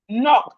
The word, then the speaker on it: knock: Knock. The K is silent.